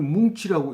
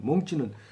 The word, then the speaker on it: 몽치: 몽치인데 이걸 뭉치라고 읽으면 좀 무시무시한 이런 삐죽삐죽하게 튀어나오는 그 쇠사슬 달리고 끝에 막대기 같은 게 달려서 이렇게 죽이는 철퇴를 이제 뭉치라고 얘기할 수도 있습니다. 그런데 여기서는 몽치입니다. 몽치는 짧은 몽둥이를 몽치라고 얘기를 합니다.